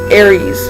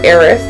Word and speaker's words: Aerith: Supposedly, in the Japanese version, her name is Aerith. Where it's, let's see, where it's TH. But then, when it came over to the US, it became Aries. I say Aries, okay?